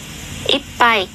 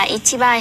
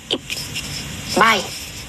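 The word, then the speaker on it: 一杯: là ippai hay là ippai. Đúng không? Ở đây ấy, thì nó chỉ có phân biệt là pai và bai thôi, thì ba ấy, thì chúng ta sẽ đọc là pai nhá, ippai.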